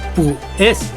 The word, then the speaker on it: pues: Por ejemplo, en el Nocturno Rosario dice pues bien, la palabra pues, ahí hay un diptongo, por lo tanto es una sola sílaba y no es pu es, sería pues. Y también sucede con la palabra bien.